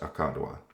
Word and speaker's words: Aka Dua: Lapis akka dua energy is, I hate it when people say it like that. It's just akka dua.